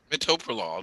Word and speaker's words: metoprolol: spell it again what what does it m-e-r-o-m-e-r-n-p-r-o-l-o-l metoprolol it's spelled a little wrong okay what about metoprolol